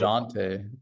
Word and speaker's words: Dejounte: DeJounte.